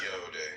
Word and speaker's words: Yod: Yod pronounced Yode. Yod pronounced Yode.